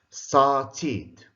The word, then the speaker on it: started: Started. After t and d, it's id.